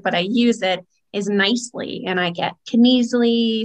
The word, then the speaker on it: Knisely: didn't take it but i use it as nicely and i get can easily some people call